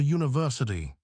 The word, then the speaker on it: university: We say a university. Why is because the word begins with the sound U. The U sound is a consonant sound.